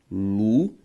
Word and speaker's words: lunática: São palavras que, veja só comigo, ao fazer a separação silábica da palavra lunática, o nosso resultado é lunática. E a sílaba tônica, uná, por isso, proparoxítona.